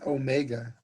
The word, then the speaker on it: omega: And all of these is named by a Greek letter that looks like W, but actually we pronounce it omega.